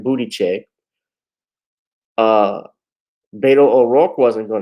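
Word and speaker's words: Buttigieg: win the presidency yeah i said it right booty check uh beto o'rourke wasn't going to get it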